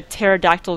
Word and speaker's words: pterodactyl: can't you hear a pterodactyl go to the bathroom because the p is silent I it's bad I